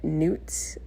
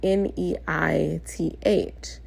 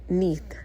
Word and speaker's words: Neith: saying her name is Neith, like Newton. She literally gave me that reference. Like Newton. Okay, Neith. But she spelled out n e i t h.